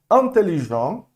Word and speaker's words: intelligent: Então, intelligent, intelligent, morre no M, masculino.